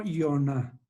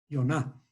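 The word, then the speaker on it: יונה: Entonces, esto se escribe en español, digamos, o se pronuncia como Yoná. Yoná, ¿no? Esto se lee de esta forma como Yoná.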